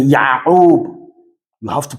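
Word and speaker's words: Yaqub: They will tell you, no, don't say Yakuba, but you say Ya'ub.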